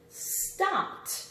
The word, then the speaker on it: stomped: Stomped. What do you think of this one? Stomped. It's easy to hear the T on some of these words, right?